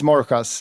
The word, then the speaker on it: MORJAS: No, but it's MORJAS. It's Spanish pronunciation. But in Sweden they say like MORJAS, and then in the UK or in the US they say like MORJAS.